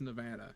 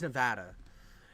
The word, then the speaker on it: Nevada: it's Nevada it's Nevada it's Nevada and it's always been that but I'd go somewhere and they like oh where are you guys from and we'd say Nevada and they're like Oh you mean Nevada or you have an interesting accent and I'm like what do you mean you say uh Nevada weird and I'm like you mean the way it's supposed to be said no no it's Nevada